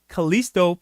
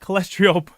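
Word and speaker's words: Callisto: thank you brett jj it's kalisto protocol not cholesterol cholesterol protocol uh i keep pronouncing it wrong kalisto protocol ah you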